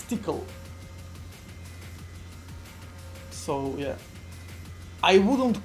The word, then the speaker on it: Tcl: Like tickle, that's how you pronounce it, right? It's tickle.